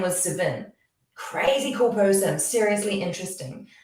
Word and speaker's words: Savin: seriously interesting um and i said have i pronounced your name right because it was s-a-v-i-n and with my kiwi accent i often get things very wrong and he goes no it's perfect he goes um i've